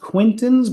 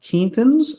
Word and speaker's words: Quinton: minerals and I use what I pronounced Quinton but I learned the other day I think it's called Kinton isotonic that's sea minerals and